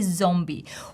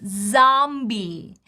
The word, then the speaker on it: zombie: Even though we see the letter O, zombie, we don't say zombie. We pronounce the full A sound, zombie. And if we look in the transcription, we'll see zombie, zombie. She's a zombie, zombie. Long E in the end.